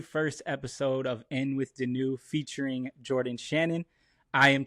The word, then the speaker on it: Denoux: mispronounces your name to tell them it's in with or out with the old and in with Denu.